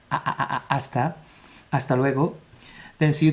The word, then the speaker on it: hasta: Remember the H at the beginning is silent, so it's not hasta, it's hasta.